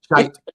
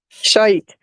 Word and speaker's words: shite: Is it pronounced shite when it has an E on the end? Yes. Shite. That's it exactly. Shite.